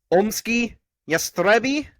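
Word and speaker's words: Omskie Yastreby: Is it Omsky Yastrebi? Yes, Leslie, that's exactly how you pronounce Nice.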